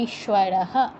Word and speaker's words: ঈশ্বর: গেল বলতে হবে বিভর্ত ঈশ্বর ঈশ্বর ঈশ্বর দীর্ঘই আছে তো উচ্চারণটাও দীর্ঘ করতে হবে ঈশ্বর আর এটা উচ্চারণ করতে হবে